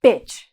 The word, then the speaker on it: bitch: So the pronunciation of this word is very fast. So you're going to say bitch.